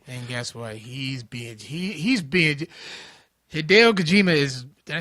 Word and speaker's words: Hideo Kojima: He's being Hideo Kojima is.